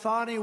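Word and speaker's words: Fani: a ni I fny you have to pronounce it fonnie it's called Fanny you have to pronounce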